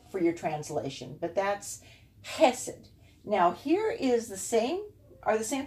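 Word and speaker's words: חסד: And since you have both of them, two segols, then the accent's going to be on this first syllable. Chesed. Chesed.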